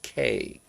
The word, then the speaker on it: Cay: No, I mean it's not Kai. It's K. Like the letter K, but it's a word. C A Y. So it it's spelled C A Y, but it's pronounced like the letter K.